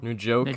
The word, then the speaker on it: Njoku: Nujoku, or what is it? I think is it It's like pronounced it's Nujoku? Njoku.